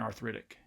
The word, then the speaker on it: arthritic: And hopefully you can hear that there is stress on the second syllable of each one of these: Atlantic, atrocious, America, arcade, astronomy, and arthritic.